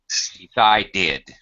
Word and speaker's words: decided: The only time you say id or pronounce it as a separate vowel sound, like id, is when the verb ends with a T, letter T, or a letter D. Decide, decided. Wait, waited.